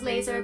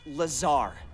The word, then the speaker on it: Lazar: Blazer Rangers this is laser Blazer a researcher in rrnd department and it's sales liaison it's Lazar actually Accent on the Czar but yes I'm your